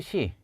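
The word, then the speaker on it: ξ: 다음 으로 , Xi 는 이렇게 발음 합니다 . 시 . 영어 로 는 "ksi " 또는 "x" 라고 생각 하면 됩니다 .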